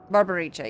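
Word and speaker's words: Barbariccia: idiot oops she like just said her name Barbara richia God really barbaricia yeah there we go yeah the the Double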